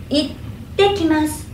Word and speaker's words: itte kimasu: Aqui tem dois T, né? Então, um pequeno passo aqui, né? Pronuncia assim, itte kimasu, itte kimasu.